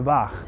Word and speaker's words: waag: And a waag, which kind of sounds like the word weigh in English, was in fact just